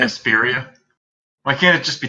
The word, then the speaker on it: Vesperia: Vespria? Vesperia.